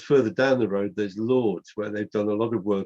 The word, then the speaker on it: Lords: Lords. Lords. How do you spell that? As in Lord, L-O-R-D-S. As in Lord. Lords. Like Lords, yeah.